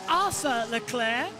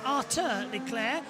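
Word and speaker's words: Arthur Leclerc: into turn one uh it may be look like Arthur L Clair but uh you have that's what sh calls him but you have to pronounce it with a French interpretation which is arur lir his brother charl not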